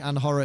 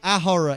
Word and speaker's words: ahora: Feels like it's Anhora because the H is silent. So you're saying, oh, like an horror film. Hang on. Ahora or Anhora? Oh, good. No, Ahora. Ahora is right. Oh, good. It's only when you don't pronounce the H.